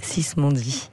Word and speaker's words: Sismondi: reprendre, Brigitte, parce que vous avez prononcé mon nom à l'italienne, et j'adore ça, parce qu'en Italie... Non, mais c'est que si je suis en Italie, on prononce mon nom ainsi, mais en France, les gens disent Sismondi. Ah oui. Donc on me connaît plus souvent sous le nom de Sismondi, mais c'est vrai qu'en Italie, et mon père...